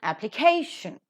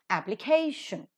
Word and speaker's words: application: fits into this rule K is the syllable that is present before shun and hence that is to be given accent so it is application application and accordingly you have